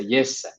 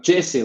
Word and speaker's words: Jesse: the way say because if i would say in finnish pronunciation i would say yes like yes yes okay so it's not like jesse like a lot of people say but yes much better anyways um yes